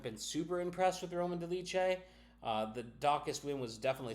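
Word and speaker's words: Dolidze: years old in Roman de leche I say Roman some call them Roman deletes Roman de leche I pronounce my Fighters properly is coming off a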